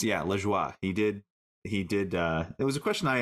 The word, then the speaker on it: Lajoie: And it's, yeah, Lajoie.